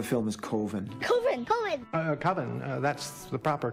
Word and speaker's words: Coven: Coven, that's the proper pronunciation. No. Coven sounds like oven, man, and that's just, it doesn't work.